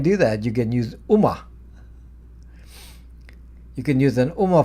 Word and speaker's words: Ooma: UMA is spelled OOMA, voice over IP.